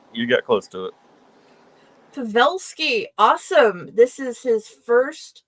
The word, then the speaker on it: Pavelsky: It's pronounced Pavelsky, but you got close to it. Pavelsky, awesome.